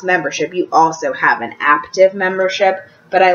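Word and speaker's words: Aaptiv: is also two dollars I'm gonna pronounce it active until somebody corrects me it's spelled aap tive and basically it's um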